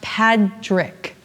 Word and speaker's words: Padraic: Joy because it's pronounced Patrick yeah it's like the name Patrick but just put a D in place of the T how did you come